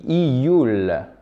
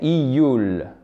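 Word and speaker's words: июль: Juin se dit iyun et juillet se dit iyul. D'accord? Donc, il y a juste une lettre de différence. Juin, iyun. Juillet, iyul.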